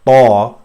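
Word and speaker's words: طاء: Now Ta is the same, except that the tongue touches the most part of what is called as hard palate here in this diagram. It touches the top of your mouth, inside of it, and almost touches entirely, almost.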